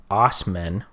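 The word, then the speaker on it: Assman: Dodge Ram pickup truck ass man pronounced Osmond oh that's so lame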